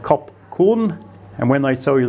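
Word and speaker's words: ขอบคุณ: When they tell you the Thai word for thank you, they will say koob kun instead of kop kun.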